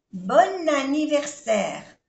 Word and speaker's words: bon anniversaire: Aquí hacemos la unión, la liaison. Bon anniversaire.